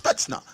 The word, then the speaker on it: Spetsnaz: And it's pronounced Spetsnaz. I've listened to it like 10 times to make sure I pronounce it right.